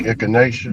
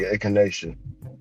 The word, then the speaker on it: echinacea: And, she got me laced with garlic, garlic, echinacea. Let me see what's on it. It looks like echinacea. You know echinacea, right, Ron?